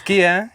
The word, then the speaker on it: Kia: Is it Kia? Am I pronouncing it right?